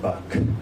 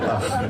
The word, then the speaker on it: Bach: And it's not pronounced Bach. That's what Americans say, but sorry. It's called Bach.